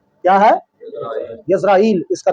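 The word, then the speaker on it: ישראל: لفظ اسرائیل کا تعارف۔ لفظ تو در اصل لفظ اسرائیل نہیں ہے، اس کا تلفظ ہے وہ ہے یزرائیل۔ کیا ہے؟ یزرائیل اس کا تلفظ ہے۔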